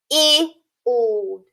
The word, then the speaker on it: field: Instead of that acting as adjacent vowels, here our I is silent and our E is long. Let's read this word. Field. Field.